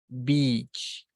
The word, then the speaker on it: beach: So this one, the second one is pronounced beach, beach.